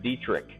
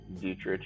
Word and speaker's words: Dietrich: last name is pronounced Dietrich so the H actually has a K sound but it's spelt diet rich easy way to remember